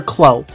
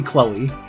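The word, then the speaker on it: Kloe: I wasn't sure exactly how to pronounce her name. I opted to call her Chloe. Yeah. Yeah, that became her name. Sounds like Chloe. It probably is supposed to be Chloe.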